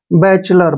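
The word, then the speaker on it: bachelor: इसको कैसे पढ़ना है बी का उच्चारण हम बे करेंगे ऐसे बे और सी एच का उच्चारण हम च करते हैं च ठीक है और ई इसमें ए के रूप में आ गया है एल का उच्चारण जो है ल करेंगे ठीक है ओ आर को र पढ़ेंगे ऐसे बलर क्या पढ़ेंगे इसको बैचलर बैचलर क्या होता है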